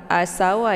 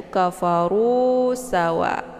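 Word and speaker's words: كَفَرُوا سَوَاءٌ: merupakan Mad Thobi'i kemudian kafarusawa ini bukan sawah ya kafaru A Sawa bukan Tapi bacanya yaitu kafarusawa ini Hamzah ini hanya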